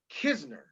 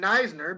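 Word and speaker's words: Knizner: his last name is spelled k-n-i-z-n-e-r but it's pronounced kisner and um right now everyone calls him neisner because we don't know who he is who's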